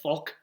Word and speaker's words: Falk: are down to like Luke Falk so you say his name Faulk and they just signed